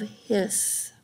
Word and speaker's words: His: called the bundles of hiss and it's spelled like his and hers h.i.s but it's the bundle of hiss and you can see